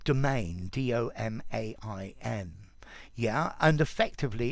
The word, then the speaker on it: demesne: um if you notice the pronunciation of this word is just like domain d-o-m-a-i-n yeah and effectively